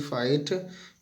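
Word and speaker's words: fight: ई हैब टी ओटू एफ आई जी एस टी फाइट इसमें जी S silent है एच ए आर डी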